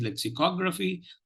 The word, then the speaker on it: lexicography: So the word for today is lexicography. The third syllable takes the primary accent and the first syllable takes the secondary accent.